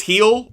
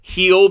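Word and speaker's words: Gil: have performed when Lewis heel that's G but pronounced h i l uh when he is on the mound Luis heel when he is on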